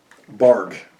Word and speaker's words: barque: Barque. Nope, that's bark. That's not. Let me just spell it. B-A-R-Q-U-E. I might be even saying it wrong. Barque. I said it right.